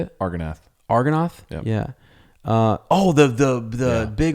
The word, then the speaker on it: Argonath: Argonath.